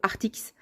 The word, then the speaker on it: Arrtx: anglais c'est Arrtx et donc en français j'en déduis qu'on peut prononcer ça art-ix.